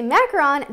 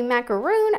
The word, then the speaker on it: macaron: Oh, do you say macaron like macaron or macaroon? Because there's two different ways to say it. If you say macaron, then you're saying it right. Because if you say macaroon, that is like a coconut cookie, which are also very good.